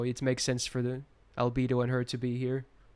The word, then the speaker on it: Albedo: because i feel i i used to say alberto but when i heard the official like character trailer i think they said albedo so i was like